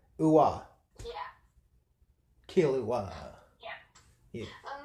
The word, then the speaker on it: Killua: It's Kill, like, Assassin's Kill. Uwa. Killua.